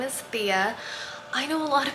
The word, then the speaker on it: Thea: channel if you're new here my name is Thea I know a lot of people when I